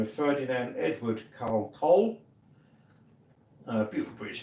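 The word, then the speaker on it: Kohl: I mean, this is spelled K O H L with an accent over the O. That's German. That's like a German name.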